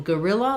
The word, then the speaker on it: guerrilla: So in guerrilla, like guerrilla warfare, gorilla, we really actually say it the same as this gorilla, the animal. So because they're both stressed on the ril syllable, we have an unstressed schwa. So either the UE or the O, g, just becomes a schwa.